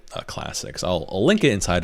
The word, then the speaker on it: clsx: going to be clsx I pronounce it Classics it's really a package